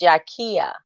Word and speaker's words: Jakia: It's pronounced Jakia. Oh, Jakia. Okay.